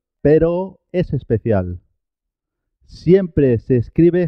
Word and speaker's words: pero: Perro se escribe con dos R's y suena doble. Perro, cuando se escribe con una sola R, suena simple. Pero, perro, pero, perro, pero.